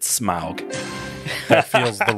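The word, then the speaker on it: Smaug: you're gonna pronounce it I'm gonna go smoke SMA ug I too would pronounce it smog that is the right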